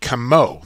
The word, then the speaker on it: Comeau: As we settled the debate right here on Lacrosse Classified, you now know it is Eddie Comeau. That's how you pronounce his name, Evan.